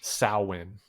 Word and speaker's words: Samhain: So on that holiday, how did you pronounce that again? Samhain.